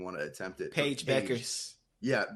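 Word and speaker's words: Bueckers: a UConn player, and I get her last name wrong. I don't even want to attempt it. Paige Beckers. Yeah, Beckers.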